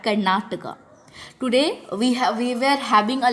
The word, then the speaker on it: Karnataka: we talk about English, in English it is Karnataka, and in the other subjects we read it Karnatak, or in orally we tell Karnatak. The right pronunciation for that Karnataka.